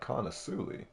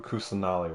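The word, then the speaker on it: Kusanali: came from lesser Lord kulli really Lord kusali I said the name wrong oh no what you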